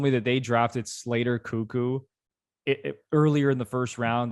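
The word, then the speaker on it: Koekkoek: Andrei, I think it might be Slater Cuckoo. How you pronounce that's that, you know what? When I hear it out loud, I'm like, yeah, it's Cuckoo, which is how I read it.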